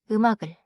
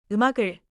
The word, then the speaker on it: 음악을: 음악을. 음악을.